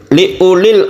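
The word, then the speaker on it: لِأُولِي: Li ulil absar, u-nya ini meskipun ada waw, ini tidak dibaca panjang, jadi membacanya pendek saja. Li ulil, bukan li ulil, tapi dipendekkan karena wawnya ini berfungsi hanya sebagai tulisan dan bukan sebagai tanda mat atau tanda panjang.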